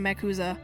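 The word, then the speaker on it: MACUSA: the president of mauza I hate the pronunciation of makuza it's Mac USA shut up um cuz it sounds too much like Yakuza so I'm sure there's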